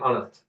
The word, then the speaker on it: honest: the reason is why even though it starts with H which is actual a consonant but it does not pronounce we call it silent yes that's it silent and now and honest uh in front of